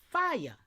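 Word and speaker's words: FIAI: Fire. F I AI. Foundational indigenous American Indian, y'all. Pronounced like fire, but it's fire. Huh? Come on. It's Foundation Indigenous American Indian pronounced as fire.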